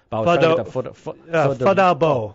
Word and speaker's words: Pho da Bo: Pho da Bo. I asked them, and they tried to ask me to pronounce that b, like bao, not bao b. They wanted that shorter.